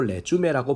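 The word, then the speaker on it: résumé: 그리고 레주메라고 발음하는데 이력서를 만들어 주세요.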